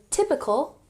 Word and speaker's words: typical: So, could you please describe, emphasis on the second syllable, describe a typical, emphasize the first syllable, typical day in your life?